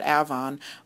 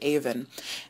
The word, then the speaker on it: Avon: you're from rochester and you probably pronounce that avon but in southern england they pronounce it even there is a uh